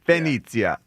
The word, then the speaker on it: Venezia: Venezia.